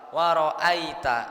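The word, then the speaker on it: رَأَيْتَ: Nah, kita jangan sampai keliru. Biasanya kita itu keliru bacanya jadi e ya. Waroitanas ya mirip-mirip e. Jadi harus lebih dijelaskan ya. Kalau ya sukun itu gampangannya kita bacanya meringis Pak Bu kayak orang senyum ditarik ke bawah mulutnya.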